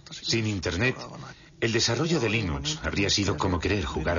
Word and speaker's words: Linux: La primera pregunta de la categoría fácil es: ¿cómo se pronuncia Linux? Bueno, yo Linux lo pronuncio Linux. Sin embargo, si fuese Linus Torvalds, no hay duda de que lo pronunciaría Linux. Claro que si uno es de la costa oeste de los Estados Unidos, lo más seguro es que lo pronunciaría Linux. Pero a Linus Torvalds le importa un bledo cómo pronunciéis Linux siempre y cuando lo utilicéis.